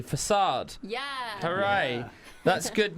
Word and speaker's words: F4CADE: F4CADE.